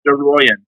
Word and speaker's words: Aroian: Yeah, it's pronounced Aroian. Aroian. Oh, that is so sweet, man. What's the etymology of that? Yeah, it's actually Armenian.